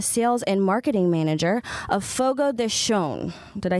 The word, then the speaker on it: Fogo de Chão: I am here with Ryan Metcalf, the general manager, and Nicole Morgenstern, the sales and marketing manager of Fogo de Chão.